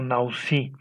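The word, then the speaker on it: נשיא: y se menciona este término que es nasi y que se pronuncia como nausi.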